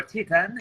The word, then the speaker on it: Titan: of the Acadie Bathurst Titan, or Titan, if we're using the French pronunciation, of course, were set against the defending QMJHL champions in the form of the Moncton Wildcats.